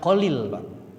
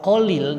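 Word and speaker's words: خليل: kadang-kadang Ibrahim Al Khalil tapi maaf membacanya dengan Kholil kalau kolil nanti kesannya pakai qof Jadi kalau Kholil apa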